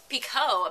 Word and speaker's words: Picoult: I also got Lone Wolf by Jodi Picoult, apparently is how you pronounce it.